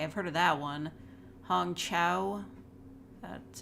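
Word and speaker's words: Hong Chau: wakanda forever okay I've heard of that one Hong Chow that's how you pronounce that Carrie Condon Jamie Lee Jamie Lee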